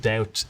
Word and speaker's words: doubt: borrowed into the language there was no B in the word doubt either in English or in French but the word came ultimately from the Latin word duare which has a b so at some point